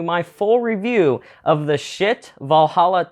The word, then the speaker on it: Schiit: That is spelled S-C-H-I-I-T. It is pronounced Schiit, that is correct.